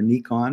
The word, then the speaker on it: Nikon: my camera I'm a Nikon guy or Nikon is the proper way to pronounce it I have a